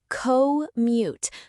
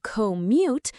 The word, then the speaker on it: commute: Also, commute, co-mute. Some learners say commute, which is okay, but the stress on the first syllable sounds most natural in everyday speech.